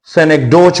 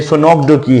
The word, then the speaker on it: synecdoche: याद रखिए इस लफ्ज की जो सही प्रोनाउंसिएशन है वो है सेनेक्डकी। सेनेक्डकी, सेनेक्डकी।